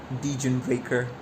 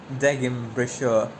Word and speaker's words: Degenbrecher: Dejun breaker. No, I will go with the proper pronunciation. I will not be indoctrinated. It's Deim Brashau.